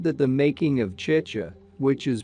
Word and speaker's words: chicha: in existence he said that the making of chicha which is pronounced chi cha but which he pronounced chahi cha an alcoholic beverage made from fermented corn was